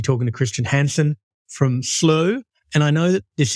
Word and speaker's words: Slo: CEO at at slow so we do proun it just slow it's the easiest my background traditionally by Heritage is Scandinavian so my Scandinavian family have a good laugh because that's not how they pronounce it in Scandinavia so depending upon where